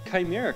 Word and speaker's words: chimera: beast that unfortunately like people have already decided how to pronounce based on degrees so so what is it chimera so the people who call him chimmer are full crap they are just uneducated video game dorks like we kind of were with all of our mispronunciations but we i think we got chimera correct uh coincidentally i know